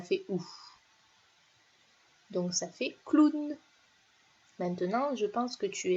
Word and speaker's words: clown: maintenant je sais que le hall w se prononce ou c'est le mot clown donc celui-là il ya un petit peu bizarre